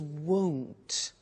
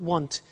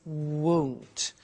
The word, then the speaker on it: won't: Now, the negative form we mentioned before, you heard me with the money, is won't. Be careful with the pronunciation. It's not want, it's won't.